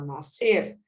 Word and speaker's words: nascer: é um som nasc a gente não fala nascer a gente fala nascer é como se esse SC fosse um C apenas e colher ou